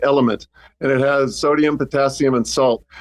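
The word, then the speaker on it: LMNT: I use a thing called, it's getting very widespread now, but um LM NT, say it like element, and it has sodium, potassium, and salt.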